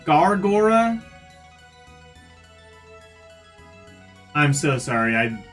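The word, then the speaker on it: Gawr Gura: I probably butchered. It's Guora. Gargora, I'm so sorry.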